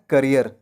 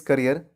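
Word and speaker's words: career: करियर। For example, he is making his करियर एज a singer. तो कैरियर नहीं पढ़ना है, क्या पढ़ना है? करियर।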